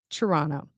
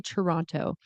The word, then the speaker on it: Toronto: Toronto. So, we do not pronounce the T. We don't say Toronto. If you do, you're probably not from Toronto or you're probably not Canadian.